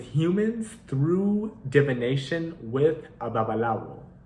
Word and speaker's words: babalawo: So, Orunla communicates with humans through divination with a babalawo. Babalawo, or babalao in the West African pronunciation, literally means father of the mysteries in the Yoruba language.